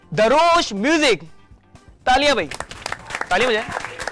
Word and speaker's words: Darosh: नाम है दारोश या दरोश, पहले तो आप मुझे बताएं, मुझे प्रोनाउंसिएशन नहीं पता। अच्छा, इसकी प्रोनाउंसिएशन वैसे दारोश है, बट क्योंकि स्पेलिंग दरोश लगती है तो most of the people call me दरोश।